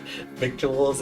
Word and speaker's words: victuals: Never heard the word victuals, sweetie? It's lingo out here on the trail. Doesn't look like it, but it rhymes with little.